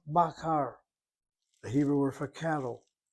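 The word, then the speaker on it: בָּקָר: This is an a-a, baqar.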